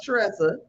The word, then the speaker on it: Tressa: Well, for one, you're gonna say my name right. Since I'm a good friend. Tressa. I was like, ain't that an R right?